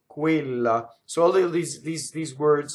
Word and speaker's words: quella: Going on, quella, not quella, quella. So QU is ku, right? This E is a stressed E that is closed, quella. So all of these words like quella, questa, questo, quei, those are all closed E's.